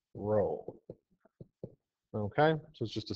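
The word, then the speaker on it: rho: the Greek letter r which is pronounced row okay so is just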